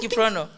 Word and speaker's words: Kiprono: How do you pronounce Kiprono in your language? You just say Kiprono. It's Kiprono.